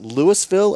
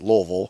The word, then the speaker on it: Louisville: Can you pronounce it Louisville or Louisville? And it's neither of those. It's Louisville. Yeah.